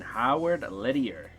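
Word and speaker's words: Howard Lederer: $5.95 World Championship Poker All-In featuring Howard Lettier. That's how you pronounce his name.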